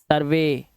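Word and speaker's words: survey: देखो इसे ई वाई अब इसे कन्वी नहीं पढ़ना है कन्वे सर्वे दे नोट क्या करना है नोट वी के बाद आने वाले इ वाई का उच्चारण अक्षर ए होता है तो यहां पर आप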